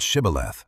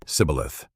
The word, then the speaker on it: Shibboleth: "Pronounce the word Shibboleth," they demanded. But the Ephraimites could not say it right. They said Sibboleth, a tiny linguistic slip that meant life or death.